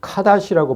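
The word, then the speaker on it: קָדוֹשׁ: 거룩, 카다시라고 발음하고 아까 남창, 카데시. 모음만 달라요. 카데시, 카다시.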